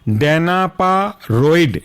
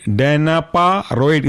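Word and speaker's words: Danaparoid: day Perrin उसके बाद next example है आपका डेना पा रइड डेना पा रइड स्पेलिंग है डाना पा डी ए एन ए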